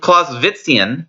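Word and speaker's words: Clausewitzian: do not say that you do not pronounce the w as a w it's a v clause business right you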